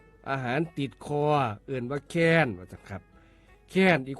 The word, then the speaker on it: แค้น: ขอ เสนอ คำ ว่า แคน ครับ แคน เขียน สระ แอ คอ ไม่ โท นอ หนู รวม กัน แล้ว อ่าน ว่า แคน ครับ แคน มี อยู่